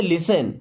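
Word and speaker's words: listen: means मत लिसन देखिए यहां पे तो टी भी लगा है हमने इसको लिस्टन नहीं पढ़ा क्यों क्योंकि येय साइलेंट होता है टी इसे पढ़ते लिसन लिसन का मतलब होता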